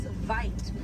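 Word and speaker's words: wyd: Original word for white rhino was vite. Vite means white in Africans, but over time it was misheard and mispronounced and it turned into the white right now.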